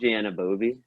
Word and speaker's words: Anunoby: We go through the Raptors, OG Anunoby. That's how you pronounce it.